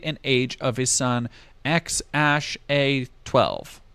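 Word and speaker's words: X Æ A-12: age of his son X Ash a12 which is how you pronounce that other deleted tweets are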